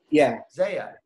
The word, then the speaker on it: Zia: Yeah, it's pronounced just like Isaiah, but with no I. So don't worry, I get it mispronounced all the time. Zaya.